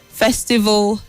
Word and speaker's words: festival: University hostels you mentioned Festival local the a l at the end has a weak sound so you say festival and local and not festival and